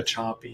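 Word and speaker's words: Sapi: years ago, by a researcher named Eva Choppy, and that her last name is spelled S-A-P-I.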